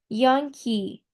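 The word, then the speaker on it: Unhei: Yes, it's pronounced Young-hee.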